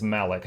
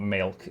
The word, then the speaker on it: Malik: This is also it's Malik, not Malek.